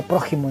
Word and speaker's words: prójimo: x en medio y representa esta letra x representa el sonido que actualmente nosotros en español le ponemos a la jota entonces próximo si viene del adjetivo este adjetivo próximo pero que se pronuncia prójimo en definitiva y en